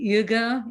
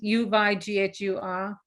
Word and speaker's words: Uyghur: US support for the Uyghur independence movement? For the what independence movement? I'm probably not pronouncing it properly. Uyghur independence movement, U-Y-G-H-U-R. Oh, okay. I pronounce it as Uyghur. It's probably not right.